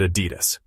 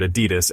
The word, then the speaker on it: Adidas: Depending on where you're from, you may pronounce it Adidas. Or personally, I've always heard Adidas.